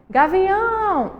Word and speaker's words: gavião: Olha só, gavião, a sílaba mais forte é a última, então a gente classifica ela como oxítona.